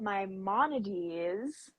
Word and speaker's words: Maimonides: a lot so we wanted to talk about my Mones and that is how you say his name